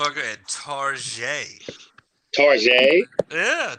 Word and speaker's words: Target: at target target yeah tarjay that's how you say it when you want to be fancy and you know that